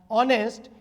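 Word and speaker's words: honest: ऑनेस्ट यहां पर हम जो प्रोनाउंस करते हैं वो अ का प्रोनाउंसिएशन हो रहा है जो इंग्लिश का एक वोवेल है।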